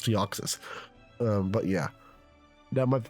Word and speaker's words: Deoxys: Apparently, people call it Deoxys. Why? I don't Why? Why? Why would it be pronounced Deoxys? No, it's Deoxys.